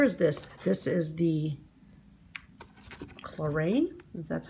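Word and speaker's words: Klorane: This is the Chlorine.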